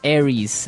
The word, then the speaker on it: Aries: And so it's pronounced Aries.